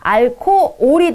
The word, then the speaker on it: 알코올: 알코올은요, 알코홀입니다. 알코홀. 근데 H는 묵음이 되기 때문에 알코올이 되고요.